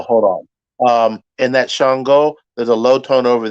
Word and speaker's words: Ṣàngó: place uh sister anusha it is shongo but spelled with just an s-a-n-g-o that s has a dot under it uh which makes the sh sound shongo and uh we covered